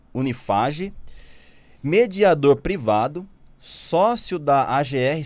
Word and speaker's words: Unifaj: E nos cursos de medicina do grupo Unieduc, que é Unimax e Unifaj, é isso assim que se pronuncia? Unifage. Unifage, mediador privado, sócio da AGR Sistema de Solução